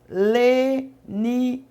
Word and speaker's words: Lenize: Então, às vezes você perde a um canal e acaba caindo em outro canal, mas sempre quando você for pronunciar o meu nome, você fala: Missionária Leniz com Z, viu?